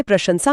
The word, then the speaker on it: प्रशंसा: जैसे प्रशंसा में पहला श तालव्य है और आखिरी स दंत्य।